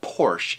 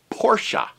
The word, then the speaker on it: Porsche: needs to be pronounced oh it's not Porsche it's pronounced Porsche what did you just